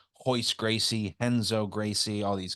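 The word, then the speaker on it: Royce: Anytime a Brazilian has an R at the beginning of their first or last name, it's pronounced H. Hoist Gracie, Henzo Gracie, all these guys, right?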